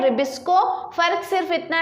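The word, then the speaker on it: RuBisCO: ठीक है, तो RUBP जो हम रिबिस्को एंजाइम कहते हैं, इसका जो प्रोनाउंसिएशन है वो है रिबिस्को enzyme, which is very important.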